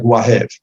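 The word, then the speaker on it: והב: Number one, there's no record anywhere other than this pasuk of a place called Vahev. Two, in pre-Ashkenazi Hebrew, the letter Vav is soft, pronounced more like a W than a Vav.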